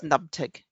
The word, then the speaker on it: NPTG: gazetteer and or and it's also known as nubtig because we like to try and pronounce things a mouthful of of consonants and then there's also